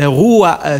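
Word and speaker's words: רוח: Je vois la chanson, je sais pas, c'est Roa ou Ruha. Oui, comment vous prononcez? C'est la chanson 3. C'est en hébreu, en fait. Roa, c'est en hébreu.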